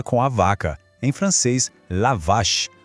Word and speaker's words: la vache: Em francês, la vache.